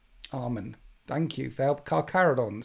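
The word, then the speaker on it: Carcharodons: Cararadons sounds like how Yes, it's pronounced like that, but it's written in Latin with a ch.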